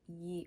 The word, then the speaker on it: Ye: know I spelled like Ye Old miter but ye like when you say like when you see the y and e is actually Old English for the so that's why I say the old miter